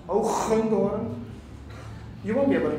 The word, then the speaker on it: Hoogendoorn: In Dutch, by the way, because I'm from the Netherlands, it's pronounced Hoogendoorn.